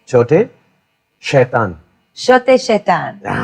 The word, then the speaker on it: छोटे: Shote. Chote.